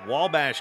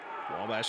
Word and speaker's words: Wabash: the little giants of Wabash College spelled at WA Vash but pronounced like there's an L in there the little giants is